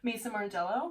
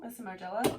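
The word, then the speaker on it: Maison Margiela: What did you say? Mason Margiela. Mason Margiela. Oh. That's how you say it?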